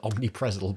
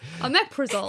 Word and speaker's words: omeprazole: We call it omnipresol, but that's not how you say it. Omeprazole.